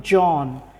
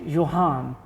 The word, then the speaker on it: Johan: Okay, interestingly, when I read your name, it was starting, it sounded to me John, and everybody was pronouncing it Johan.